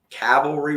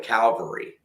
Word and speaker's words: cavalry: do it as well cavalry relics i misspelt i must have misspelled cavalry my whole life because i always called it calvary i always missed that belt and mispronunciated that word i kept i seen